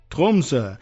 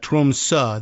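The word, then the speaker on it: Tromsø: Trumsa is how I'm going to end up pronouncing. I'm going to roll that R a little bit too. I don't know whether they really do that, but Trumsa, the O with the slash in it is apparently pronounced that way. I went and looked that up.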